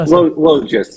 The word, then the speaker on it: Logis: Logis. Logis. So long O and then the Polish G, which is the J sound.